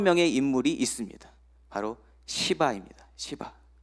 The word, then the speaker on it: 시바: 시바. 이 발음을 잘못하면 큰일 나는 이름입니다, 여러분.